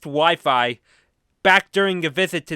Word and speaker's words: Wi-Fi: my early teenage days when I would pronounce wifi wey. Yes, we It's It's strange and funny looking back on it, but I was proven it was pronounced Wi-Fi back during a visit to the vet for one of my cats.